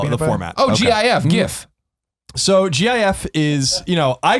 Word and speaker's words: GIF: GIF or GIF. The peanut butter, right? Now the answer is GIF.